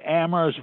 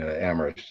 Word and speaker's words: Amherst: That aphorism referencing Amherst as the town where only the H is silent would have made no sense then, because it was a very silent town.